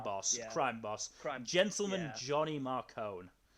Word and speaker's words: Marcone: crime boss gentleman johnny marcone uh i never don't pronounce it marconi in my head i know that's wrong like explicitly but it just it